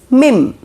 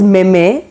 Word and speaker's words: meme: is trending a lot that is mim okay if you're calling it as meme then it's wrong it's mim number 16